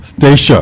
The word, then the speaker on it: Stacia: It's officially pronounced Stacia. Stacia. Like the island.